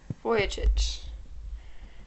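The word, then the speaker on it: Vujicic: the absence of arms and legs how about pronouncing his name neck voy voyich that was such a long video for no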